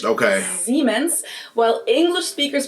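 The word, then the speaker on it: Siemens: Germans pronounce it with a voiced S, which would be a Z in English. Okay. Zmens. While English speakers pronounce it with a voiceless S. Seemens.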